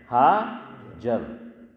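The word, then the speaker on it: هاجر: لیکن حضرت فرماتے تھے کہ صحیح تلفظ جو روایت میں حضور نے ارشاد فرمایا اس میں اخیر میں ہا نہیں ہے.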